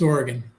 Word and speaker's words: Oregon: It's Oregon.